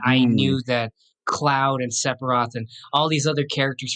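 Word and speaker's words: Sephiroth: and I knew why do you keep on pronouncing it separ Roth. Oh my god. Anyways, how is it pronounced? It It's Sepharoth, I think. And how are you pronouncing it? No, he's saying Separ. Oh, Sepharoth. No, it's it's definitely there's a ph, you know.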